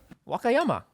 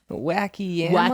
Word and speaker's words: Wakayama: Wakayama. How do you know that's how it's said? Okay, fine. Wakayama. Wacky yama?